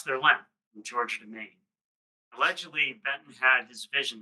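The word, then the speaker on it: MacKaye: So this is Benton Mai. Pronounced Mai. Looks like McKay, but it's pronounced Mai.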